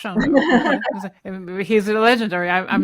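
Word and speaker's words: Sándor: Am I pronouncing I mean I think it's Shandor. I tried to I tried to pronounce his first name in a in the Hungarian way and I never got it right. The gy eluded me.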